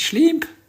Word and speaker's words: Shleeemp: People are asking how to pronounce my name. It's Shleeemp.